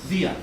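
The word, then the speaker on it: διά: Dia in Greek, pronounced thia today.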